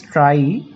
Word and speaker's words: trie: Not tree, it can be pronounced as trie, TRIE.